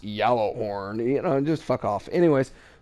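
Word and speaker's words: Gjallarhorn: Horn uh yellow horn it's pronounced yellow horn you know just [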